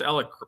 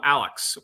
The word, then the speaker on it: Alec: You pronounced Alec properly. Yeah, she did. That's right. And how many times did your girls call him Alex this week?